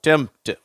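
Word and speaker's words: tempt: இப்ப இந்த பக்கத்தை பாருங்க எம் பிடி சேருது இல்லையா அப்ப இம் நடுவுல இப்பு விட்டு போச்சு அந்த சவுண்டு தேவையில்லை அந்த உச்சரிப்பு மறைந்துருது அடுத்தது இட் அப்படின்னு படிக்கிறோம் இங்க இந்த வார்த்தையில இருக்கு பாருங்க எம் பிடி இதே மாதிரி வந்துருக்கு பாத்தியா பாத்தீங்களா அப்ப இத நம்ம எப்படி உச்சரிக்கிறோம் டெம்ட் அந்த பின் என்ற உச்சரிப்பு வரதில்ல அட்டெம்ட் சிம்டம் ஓகேவா டெம்ட் அட்டெம்ட் சிம்டம் அடுத்தது பாருங்க எஸ் சிஆர் அது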